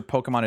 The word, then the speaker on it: Pokémon: I have to make sure Pokemon is properly... you know, the You have to have the accent on the E.